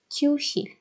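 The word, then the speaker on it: 교실: Kyushil. Q, bakın. Bu K olarak okunuyordu.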